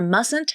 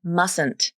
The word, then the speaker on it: mustn't: Right away, you might have noticed that I didn't pronounce the first T in mustn't.